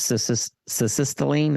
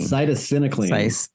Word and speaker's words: cytisinicline: So can you describe how does cessatinicline, is that how to say it? Cessatinicline. Cytisinicline.